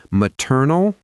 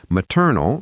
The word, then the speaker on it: maternal: Maternal relates to your mother's side. Paternal relates to your father's side. So the pronunciation is maternal. The stress is on the second syllable, maternal.